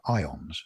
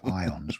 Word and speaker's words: ions: And this is, from an electrical point of view, they're ions, which is spelled IONS, not the type of stuff you iron your shirt with. These are ions, which are when a